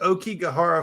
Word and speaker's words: Aokigahara: It's the Aokigahara Forest. There you go. That's Is the that one. how you pronounce it?